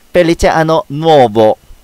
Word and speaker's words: Felice Anno Nuovo: 참고로 여기서 시는 체 발음이 나는데요. 고양시에도 벨라시타라고 하는 쇼핑몰이 있는데요. 정확한 표현으로는 치타 벨라가 됩니다. 자, 따라해 보겠습니다. Felice Anno Nuovo.